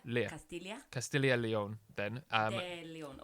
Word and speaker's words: Castilla: If it's double L, Yes. it's pronounced Lia. Castilla.